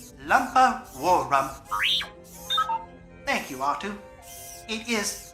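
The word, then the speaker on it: Lumpawarrump: Their true pronunciation is Malatubak, Itchy Cheetuck, Lumpa Warrum.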